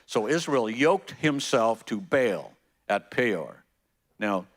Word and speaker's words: Baal: And it says in verse 3, so Israel yoked himself to Baal at Peor. Now, some of you pronounce it Baal, but Baal is the way we normally say it.